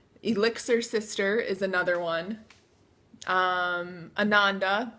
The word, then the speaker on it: Ananda: sister is another one Ananda Sanskrit you know rhymes with Amanda and Sanskrit for Bliss